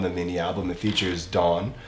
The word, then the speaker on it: DAWN: Today we're watching one of my favorites, Kang Daniel movie featuring Dawn, but it's spelled D-V-W-N.